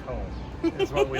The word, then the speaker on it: Tomme: with Andrew from Tom is it Tom or to to cuz I always pronounce it to and then people look at me funny like it's supposed to be Tom you're right there's no place like Tom is what we like to say awesome so